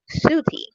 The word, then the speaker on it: Set: The name and origin, the meaning of the name Set is unknown, but it is thought to have been originally pronounced Suti.